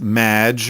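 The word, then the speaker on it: Maginot: have mispronounced my name it's Madge which rhymes with badge uh as in duh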